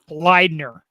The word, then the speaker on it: Bleidner: going to say your name correctly andrew james bleidner awesome actor good dude and uh real quick